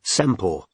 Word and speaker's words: Semple: Her estuary accent was so strong, she pronounced her surname Sempor.